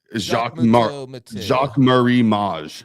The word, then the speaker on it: Jacques Marie Mage: It's like Jacques Marie Mage, I think is how you say it.